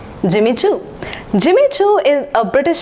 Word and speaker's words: Jimmy Choo: It is pronounced as Jimmy Choo. Jimmy Choo. It should not be pronounced as Jimmy Choo. It's Jimmy. Jimmy Choo.